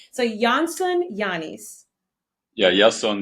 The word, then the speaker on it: Iason: to ask him two times how do you pronounce his name so Janson yanis yeah yason yanis yon yanis there you go welcome to